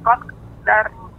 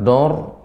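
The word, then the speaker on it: قَدَّرَ: Dar, jadi pengucapan Nek tidak dor, tapi da dulu, danya tipis, baru masuk ra yang dibaca dengan tebal.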